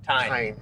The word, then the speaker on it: Tein: Tein.